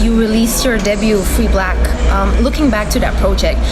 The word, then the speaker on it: 6LACK: My name is Black. That's spelled 6LACK, the 6 being, an important number to me.